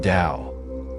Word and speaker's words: Tao: Taoism centers on the concept of the Tao, pronounced Dao, which is often translated as the way or the path.